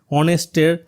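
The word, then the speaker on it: honest: এখানে এন বসার কারণ অনেস্টের ফার্স্ট লেটারটা কিন্তু এইচ আছে, এটা একটা কনসোনেন্ট কিন্তু এর উচ্চারণটা কিন্তু ভাওয়েলের মতো, অনেস্ট বলা হচ্ছে, এই কারণে এখানে এন বসেছে।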